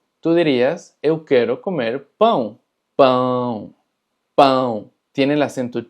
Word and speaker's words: pão: dirías eu quero comer pão, pão, pão. Tiene el acento chiu. Y es muy importante porque si tú dices pau en vez de pão, tú estarías diciendo eu quero comer pau.